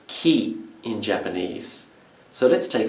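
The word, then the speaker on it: 木: it is the character for tree which is pronounced ki in japanese so let's take a look at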